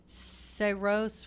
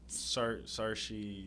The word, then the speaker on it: Saoirse: And See How They Run with Sam Rockwell and that, I can't pronounce her name, Saoirse Ronan. Saoirse Yeah.